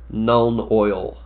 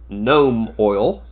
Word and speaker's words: Nuln Oil: similar to the legendary Nuln oil, or as some of my friends like to call it, because they heard me say it once and couldn't get the mispronunciation out of their head, gnome oil.